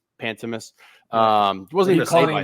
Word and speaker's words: Pantemis: Pantemis.